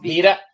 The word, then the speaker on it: Vida: It's pronounced Vida. Vida. Okay. Vida. That's how I would say it in Spanish, but that's right.